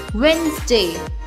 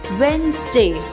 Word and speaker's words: Wednesday: No, wait a minute, वेडनेसडे नहीं होता है बिकॉज इसमें डी साइलेंट है। सो the correct pronunciation is वेडनेसडे। Repeat after me, वेडनेसडे।